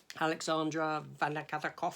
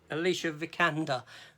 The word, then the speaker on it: Alicia Vikander: Next up, Alexandra Vanakatakov. Is that her name? Is that how you pronounce it? No, it's Alicia Vikander.